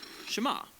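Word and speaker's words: שְׁמַע: is hear or listen which in Hebrew is pronounced shama that's where the prayer gets its name now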